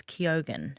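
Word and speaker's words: Keoghan: Um now apparently Barry himself says it's Kyogan Kogan.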